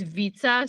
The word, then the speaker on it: Vita: silent yes and then my last name is like uh it's Vita so as if you were um saying pizza but we're supposed to pee with a v pizza yeah good to know